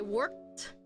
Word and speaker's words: worked: I work out I worked so this ed sound sounds like a t worked I worked out yesterday